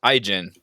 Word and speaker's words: Ijin: It's pronounced Ijin. I apologize to all Ijin fans out there and the Some Elijah fickle lovers out there. fickle god herself. Ijin. I've been pronouncing it wrong this entire dang time.